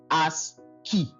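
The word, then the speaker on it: ASCII: So now if you if you want to pronounce it you can pronounce it as h has key as key as keyi.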